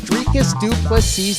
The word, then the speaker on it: Dricus Du Plessis: He still knocks Dricus Du Plessis. The S is silent, but it's violent.